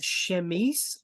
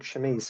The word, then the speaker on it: chemise: It's a Victorian chemise or chemise. Chemise. Yeah, Chemise. Yeah. Yeah, une chemise. Basically, it's French.